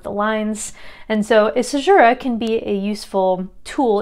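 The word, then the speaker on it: caesura: a conceit next uh a sajura so azura it's spelled kind of unusually there a sajira is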